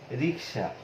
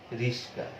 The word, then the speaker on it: রিক্সা: যেমন যে সব পরিচিত সহজ উদাহরণ দিয়ে আমি যদি আলোচনা করি, যেমন রিক্সা। এই রিক্সা শব্দটি অনেকেই উচ্চারণ করেন রিস্কা, রিস্কা।